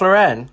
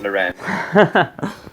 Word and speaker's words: Lauren: it isn't it ralph lauren yeah honey it's ralph lauren not lorraine it's ralph lauren isn't